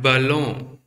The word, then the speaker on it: ballon: And ballon, and ballon.